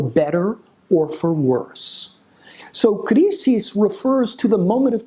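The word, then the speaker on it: κρίσις: And that word is an old Greek word that would have been pronounced something like krisis in ancient Greece.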